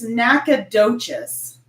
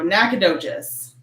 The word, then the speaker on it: Nacogdoches: So it's looking like it's Nacogdoches. Oh, wow. Was the first one. Okay. So Nacogdoches.